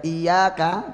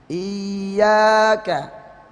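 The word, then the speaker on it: إِيَّاكَ: Nanti ada baca iyyaka tanpa tasdid ya, kadang orang nggak sadar bacanya tanpa tasdid ya, baca iyyaka na'budu. Jadi makanya untuk mempertegas suara diangkat waktu tasdidnya iyyaka ya, itu namanya nabr ya.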